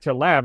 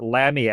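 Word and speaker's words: Lamme: But no, he was the Edison to Lamb, or Lammy, I think it would probably be pronounced.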